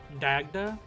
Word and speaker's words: Dagda: The whole uh it's not pronounced dog, but like dag and dagger. Dagda.